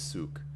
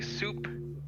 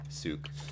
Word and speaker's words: Souk: uh my name is souk did you say soup s-u-k souk a lot of